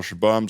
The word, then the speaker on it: Shabum: I do the whole shabum. So Don't worry. I won't deal with any pipes. I have dealt with leaks. Shabum. It's shebang, but it rhymes with plums, which is short for plumbing.